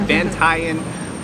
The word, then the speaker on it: Bantayan: I gotta get the pronunciation right. Bantayan Island.